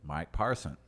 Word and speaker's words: Mike Parson: longer governor of Missouri and now we have Mike parson Mike parson oh you said it right that's right I